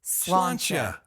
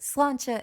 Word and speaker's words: Sláinte: Sláinte. You got a little Sláinte. happiness to it. Maybe the That's last syllable goes up, perhaps. A little Sláinte. bit. Sláinte, and clink your glass together.